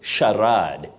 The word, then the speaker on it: charade: diagraph C and H they combine to form the sound sh not and not you say Shad Shad not sh not K uhuh Shad Shad